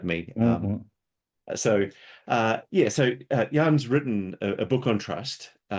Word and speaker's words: Jan: What It's a soft yay. It is Jan. Yeah, Jan? you might spell it with the Y, the The English why.